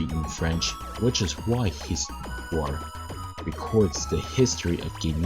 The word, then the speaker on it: histoire: It's actually histoire. H is actually silent.